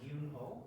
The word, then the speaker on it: Gyoonho: to hear me um my name is yunho I know that the pronunciation is um the most um not the easiest it's a Korean name I'm from so South